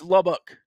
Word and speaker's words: Lubbock: you got any ideas you're giving it a dick at the end yeah it's Lubbock okay see there we go that's fine see so you've just been saying it wrong yeah yeah you've got the ick in there which I think is a bad thing yeah huh the more